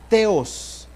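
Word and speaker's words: θεός: Hermanos, en los originales y en el griego, el nombre de Dios aparece con más o menos la pronunciación es Theos.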